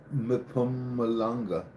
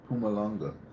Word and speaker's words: Mpumalanga: While many while many believe it remains buried near the Blythe River or in Mpumalanga. Pumalanga. Mpumalanga. Mpumalanga. Is that how you pronounce it?